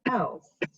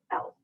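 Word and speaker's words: elles: But there is another way of saying they in French, which is else. You don't actually pronounce the S, else.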